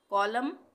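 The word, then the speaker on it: column: कॉलम, sorry हाँ कॉलम है, कॉलम बोलेंगे इसको हम, एन साइलेंट है, ठीक है। कॉलम, कॉलमन नहीं बोलेंगे इसको हम।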